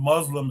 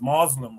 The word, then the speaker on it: Muslim: Chat is kind of quiet, you know, but says it's not Arab, it's pronounced Arab, which is a good reminder. Thank you. It's not It's not Muslim, it's Muslim, apparently.